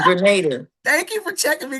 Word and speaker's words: Grenada: I'm from Chicago, so we pronounce our A's really weird. So, I pronounced it, what did I say? You I Granada. Granada. But it's Grenada. It's Grenada.